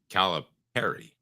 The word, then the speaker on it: Calipari: Um, Arkansas, uh, John Caliperry, and by the way, it's pronounced like a pair.